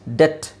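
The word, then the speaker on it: debt: ಕ್ರಮ್ ಬಿ ಇಲ್ಲ okay next ಡೆಟ್ ಡೆಟ್ ಡಿ ಇ ಟಿ B silent ಅಲ್ಲಿ ಯಾಕ್ sir silent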